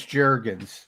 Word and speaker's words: Jurgens: over to the second round draft pick cam jurgens is that how you pronounce it yeah that was a lot of it is jurgens there was a lot i guess cam was